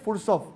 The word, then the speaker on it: Fursov: escribe Andre andrey fsop F u con acento en la u r s o andr fursov es sociólogo y historiador